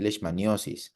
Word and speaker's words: leishmaniosis: Ustedes pueden llamarlo también leishmaniosis. Ambas formas de pronunciar o de escribir son correctas, ¿de acuerdo?